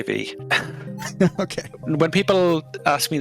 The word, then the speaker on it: VVVVVV: Uh, I just say V. Okay. When people ask me this question by text, I always say, "Oh, it's pronounced V V."